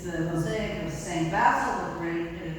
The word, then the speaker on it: Basil: Oh, I know that here in Nova Scotia that name is pronounced Basil. But Basel is actually how that this old fellow is traditionally known.